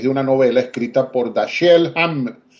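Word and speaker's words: Dashiell: originada a raíz de una novela escrita por dasel dasel hamet Perdón dasel hamet dasel se escribe d a s h i e l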